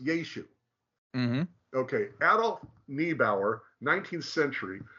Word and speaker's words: Yeshu: start explaining it so Christ's name as we're about to see was yet was pronounced yeshu When It Was Written